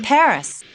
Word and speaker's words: Paris: of France live in Paris wow so this is Paris I can't believe that I've never visited the capital of France before yeah well the locals pronounce it Pari Carmen's conducted a lot